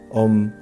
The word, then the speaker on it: Om: Om se prononce A ou M, donc tout ce qui